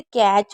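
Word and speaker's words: catch: अगर कभी भी टी ए सी एच आएगा तो टी हमेशा साइलेंट रहेगा। यह आपको याद रखना है। जैसे कैच हो गया, मैच हो गया।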